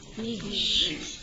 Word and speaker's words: niche: Rhymes with fish. Niche, okay?